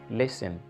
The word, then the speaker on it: listen: you have to uh let go of some letters in your pronunciation for instance you are saying listen listen did you hear t did you hear the sound no i just said listen that means that i didn't articulate the letter t sound there a